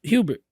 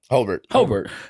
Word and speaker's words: Hobart: He's like, oh, y'all Romans, y'all down in Hobart, Hubert. How you say it? Hobart. Right? Yeah.